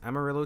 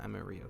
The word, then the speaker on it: Amarillo: The first location I did for this one was Amarillo, Texas, which I mispronounce a good bit due to my girlfriend being a Spanish major, so I call it Amarillo sometimes.